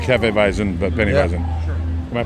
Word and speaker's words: Hefeweizen: was gonna be called penny vicen so like Hefeweizen but many hasn't my pronouncing that right yep okay this will make